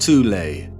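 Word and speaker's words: Thule: Prior to the rise of the Nazi regime, there existed an occult secret society within Germany called the soul society, sometimes alternatively pronounced tulle, that had subfactions within it.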